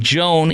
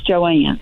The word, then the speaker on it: Joan: Joan in Wiley, you're on News Talk 820 and now 93.3 FM WBAP. Hello, Joan. Hello, it's Joanne. Oh, I apologize. It's spelled Joan, but I'm going to say Joanne.